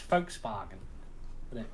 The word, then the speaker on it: Volkswagen: is if it's not the Germans pronounce the v's with the w well that they don't say vaults or is it do they they say but an F so it's Volkswagen Volkswagen I think it's